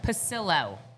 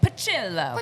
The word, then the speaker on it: Pucillo: one, the only Pucillo. Did I say it right? Yep, you said it perfect, Heidi. She said Pucillo.